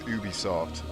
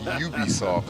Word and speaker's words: Ubisoft: ubisoft wars you know for years i thought that company's name was ubisoft then people said i hear everyone say you be soft i'm like that's how